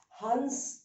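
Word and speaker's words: हंस: This is Has. Has is laugh, Hans is swan. So that is the difference.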